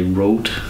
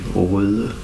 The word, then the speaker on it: Røde: It's this little, you Americans say Rode. In Denmark we say Røde.